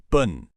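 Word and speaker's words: 분: It's actually much closer to the English word boon with a softer, slightly rounded vowel sound. Bun.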